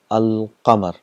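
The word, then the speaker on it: القمر: So when you get al plus qamar, it becomes al qamar. So all the letters are pronounced clearly, al qamar.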